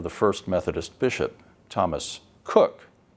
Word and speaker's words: Coke: First Methodist Bishop Thomas Cook his name is spelled in a way that we would pronounce Coke c k so Emory